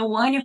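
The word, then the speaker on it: Hania: no meu perfil gente meu nome é ania com h sem som se pron o an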